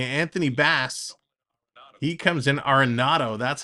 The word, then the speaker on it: Arenado: Endo coming to Anthony Bass he comes in aronado that's how you pronounce it Arenado coming in with two Runners on Runners on